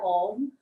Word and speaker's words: Om: And there are 3 syllables to the word Om. A, U, M.